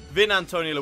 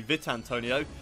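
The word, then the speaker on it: Vitantonio: entire Series so far I started off by calling him Vin Antonio lixie and um you guys correct me on that it's actually vit Antonio and his last name is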